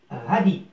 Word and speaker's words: radis: Le radis, le radis. هنا الاس لا تنطق.